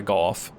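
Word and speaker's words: Gough: night hawkey is uh golf but the original Japanese uh pronunciation is go it's his name does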